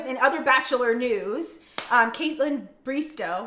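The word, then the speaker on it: Bristowe: And then in other Bachelor news, Caitlin Bristow, right? Oh, I said it right. I thought it was Bristow.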